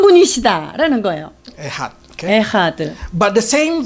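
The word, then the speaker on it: אחד: The word is I don't know how to pronounce it. Ehad 에하드라고 발음하는데요. mean one. 에하드 원 하나 이 Your 뜻이에요. God is Ehad. 너의 하나님은 한 분이시다라는 거예요. Ehad.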